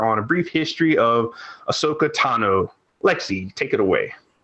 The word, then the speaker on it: Ahsoka: So I almost said Ashoka. Ahsoka Tano.